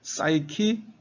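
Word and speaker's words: psyche: 푸시케를 영어식으로 발음하면 P가 묵음이 됩니다. 푸가 그래서 시크 시크 사이키 그다음에 로지 그래서 사이로지가 되면 심리학으로 번역이 되죠.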